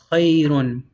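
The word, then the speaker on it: خير: Since it's not an alif, whenever you finish on it, you're going to say khayr. Khayr. You just put a sukun. You ignore the dhamma, you ignore the noon sound.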